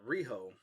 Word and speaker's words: Riho: Here we've got Riho. Not Rhino. Not Rhino. We were calling her Rhino. I think it was Valley had to point out that we were saying the name wrong.